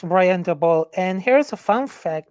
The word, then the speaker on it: Daboll: Yeah, it's Brian Daboll.